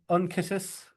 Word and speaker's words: unctuous: Um, so yeah, it's a really interesting unctuous and Unctuous, unctuous. What'd you say? unctuous, unctuous, Un Pronounce that again, Ian.